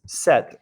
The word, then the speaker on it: cet: Well, this friend, this is pronounced set in the feminine, cet ami.